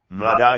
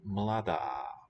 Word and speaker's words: mladá: Okay, and note that this a is long for agreement, whereas the a at the end of the word for woman is short.